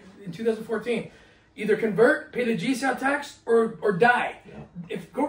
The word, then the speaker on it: jizya: At best, they were subjects of political Islam having to pay the jizya. Am I pronouncing that right? Yeah, jizya.